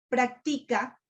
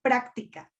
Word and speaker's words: práctica: No es lo mismo decir practica a decir práctica. Si ustedes hablan de la práctica pedagógica, lleva tilde en la A.